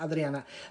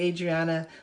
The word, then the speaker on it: Adriana: It's supposed to be pronounced Adriana, but I'll say Adriana, my son Alexis, my daughter Carolina.